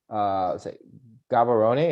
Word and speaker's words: Gaborone: Gaborone, is that how you say it?